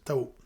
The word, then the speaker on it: Tahoe: elle est plus prononcé avec ma Tao donc Tao comme le lat Tao voilà T a h oeçon il y a pas de piège.